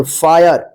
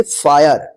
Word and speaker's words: fire: इसको FIRE, इसको क्या पढ़ेंगे, फायर। यानी जब भी आई के बाद लास्ट में RE रहेगा तो आई का आया उच्चारण होगा, जैसे फायर।